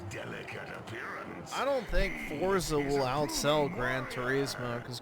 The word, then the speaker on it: Forza: ] it off f I hate how some people pronounce Forza with a t yeah the British fza you know they forget to say the T and every other word